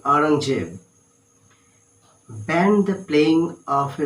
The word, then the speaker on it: Aurangzeb: Okay, now the story goes that Aurangzeb, actually pronounced like Aurangzeb, banned the playing of a musical instrument called pungi.